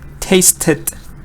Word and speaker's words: tasted: Taste, I'll pronounce it, tasted. So it's again more like, yeah, it's like number 2 because you're getting an extra syllable.